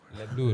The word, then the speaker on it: Les Bleus: Les Bleus, not Les Bleus. They don't really pronounce the S.